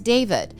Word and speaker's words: D4VD: 20-year-old David Anthony Burke, better known professionally as David, and that's spelled D4VD.